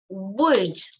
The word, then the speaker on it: would: people all right so remember at the pronunciation is wood right okay uh let's listen